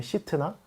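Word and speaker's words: 싯나: 이라는 의미를 가지고 있는데요 신나를 히브리어 원어 로 이제 풀어서 발음해 보면 은 시튼 하거든요 시트나 어디서 많이 들어본 것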